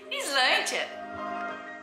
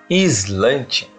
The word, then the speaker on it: Sláinte: Sim, está começando a saga mais ao sul da Patagônia, Islândia. Islândia.